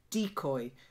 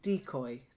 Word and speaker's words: decoy: was slightly up it's decoy so the stress is on the first syllable decoy try it perfect and